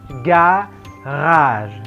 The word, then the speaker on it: garage: Yang berikutnya, nah ini kalau di bahasa Inggris garage, garage di bahasa Prancis adalah garage, garage. Jangan lupa R-nya dicadelkan. Ini juga krokodil.